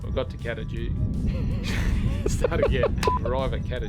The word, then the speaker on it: Kata Tjuta: So we've arrived at the Olgas or which is and you pronounce it Kata Tjuta. We've got to Kata Tjuta.